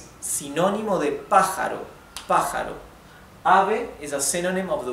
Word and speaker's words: ave: And the e is not e, it's e, right? Compact and open e, with your open mouth, e, right? Ave, ave. If you separate it in syllables, maybe easier to focus on the right pronunciation of the vowels. A, not a, it's a. And ve.